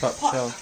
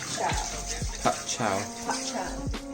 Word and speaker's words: bok choy: How do you pronounce it? Bok Choy. Bok Choy.